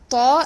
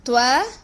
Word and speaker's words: ط: Do not pronounce the letter Ta as Twa or Twa.